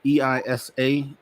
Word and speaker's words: EISA: You guys have you've created something called EISA Earth, EISA.